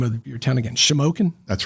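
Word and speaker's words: Shamokin: was it like to go in and I'll mispronounce the name of your town again shimoken that's right what was it like to go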